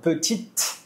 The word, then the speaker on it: petit: assim, quando eu vi quando eu ouvir um e no final da palavra em francês, o meu cérebro vai acostumar em pronunciar sempre a letra que vem antes do e. Por exemplo, nesse exemplo, petit, eu tem o e no final e antes tem o quê? Um t. Então você vai pronunciar até o tet. Acabou.